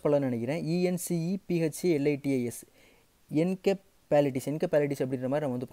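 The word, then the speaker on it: encephalitis: நான் சரியாக ப்ரொனவுன்ஸ் பண்ண நினைக்கிறேன், இஎன்சிஇ பிஹெச்சி எல்ஐடிஐஎஸ் என்கெப்பாலிட்டிஸ் என்கெப்பாலிட்டிஸ் அப்படின்ற மாதிரி நம்ம வந்து ப்ரொனவுன்ஸ் பண்ணிக்கலாம்.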